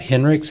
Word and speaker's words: Hinrichs: Hi, I'm Henrichs. It's spelled Hinrichs.